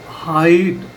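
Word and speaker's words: height: अब हाइट एच ई आई जी एच टी भी कई बार आई की ही साउंड देगा।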